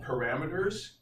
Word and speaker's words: parameter: So when we talk about parameters, whether it's in pre-calculus or calculus or statistics, it really just means the same thing. A parameter is an input to a function. Parameter, 4 syllables.